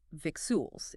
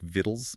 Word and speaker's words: victuals: Because if you read that word purely phonetically, it looks like victuals. It starts with v i c t. Right. But the word actually came into English through the French word vitaille. So, the pronunciation was naturally based on that French spelling. It sounded like vittles.